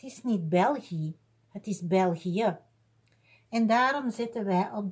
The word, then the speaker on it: België: Maar hier heb je ook I plus E, maar het is niet België, het is België. En daarom zetten wij op de E twee puntjes omwille van de uitspraak. België.